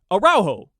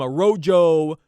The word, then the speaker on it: Araujo: the proper one and you don't have to say it properly in Spanish in English it would be araujo like that's how you would say it they're calling him a rojo a rojo arrojo it was embarrassing did you